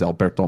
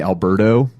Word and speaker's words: Alberto: Growing up in New Orleans, the T's are sometimes pronounced as D's, so my friends would call me Alberto instead of Alberto.